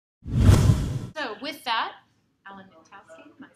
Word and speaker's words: Knitowski: Knitowski, just like knitting, so don't pronounce the K.